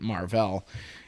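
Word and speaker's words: Mar-Vell: will play Captain Marvel Captain Marvel but with another L and a dash in his name so that you pronounce it Marvel and I don't read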